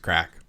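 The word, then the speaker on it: craic: like how was last night it was good crack meaning it was amazing yeah and it's pronounced crack for the record that's what I said no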